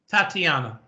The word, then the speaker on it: Tatiana: Tatiana.